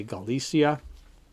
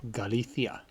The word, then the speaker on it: Galicia: we pronounce that name that c before an i is pronounced like a th so you may say galicia spaniards from spain they say galithia and that's where this